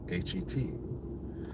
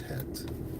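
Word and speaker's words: חית: And the letter is Het, H-E-T. But it's not pronounced Het. It's pronounced Het. Het. There's a growling, hawk, almost K sound.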